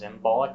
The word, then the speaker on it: Imbolc: customs and that's uh emelic also known as embolic or embolic um one Irish spelling is o-i-m-e-a-l-g you don't see that spelling so much um generally you'll see uh embolic or embolic imbolc uh it's also candle